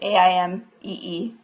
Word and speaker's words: Aimee: Aimee is spelled like the French way, Aimee.